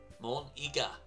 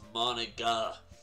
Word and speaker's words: Monika: of those means squid that's not how you say my name at all mon ega yeah you're right it's monika monika it's mo it's monika